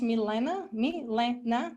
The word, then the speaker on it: Milena: My name is pronounced Milena.